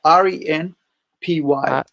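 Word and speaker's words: Ren'Py: How do you spell it? It's DES 3D. R-E-N-P-Y.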